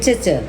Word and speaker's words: cece: Bukan cic tapi cece.